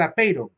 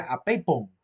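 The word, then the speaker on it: ἄπειρον: Apeiron, yo al principio de la filosofía, cuando leí por primera vez la palabra apeiron en griego, creí que decía apeipon, porque la letra R, la letra ro, en la sílaba ron, pareciera que fuera una letra P, ¿verdad? La letra ro se hace como que fuera una letra P así, medio cerrada, medio semicerrada. Y yo siempre leí apeipon decía yo, y nada que ver, era apeiron.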